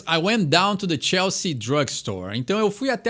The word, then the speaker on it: Chelsea: Então a gente não fala o E e o A. Isso é muito comum em vários nomes ingleses, britânicos, de não se pronunciar todas as letras da palavra. Então tu não fala Chelsea, tu fala Chelsea. Então simplesmente dá essa cortadinha na palavra e esse é o jeito correto de pronunciar.